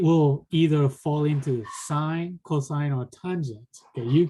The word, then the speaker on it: sine: and it's called sine you pronounce it as like a road sign okay but as a in terms of a symbol you write it s-i-n you do not want to pronounce that as sen okay people might laugh